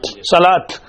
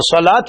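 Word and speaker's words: صلاة: तरा कहीं नहीं आया सलात पढ़ लिया लेकिन लिखा जाता है साद लाम फिर वाव और पढ़ा जाता है क्या अ सलात तो सलात पढ़ा जाता है लिखा जाता है वा के साथ जकात पढ़ जाता लिखा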